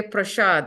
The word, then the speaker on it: prasad: Bengali and Sanskrit are practically all the S's in Bengali are SH. So, for example, usually people say, what's that sanctified food called that we offer to Krishna? What's it called? Prasad, and they say prashad, I think.